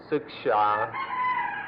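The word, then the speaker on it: śikṣā: old Indian word which in Sanskrit is pronounced siksha, or in the Pali language sikha, and we preferred to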